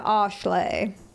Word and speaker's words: Ashley: Yeah, Ashlay. Thank you for pronouncing my name correctly.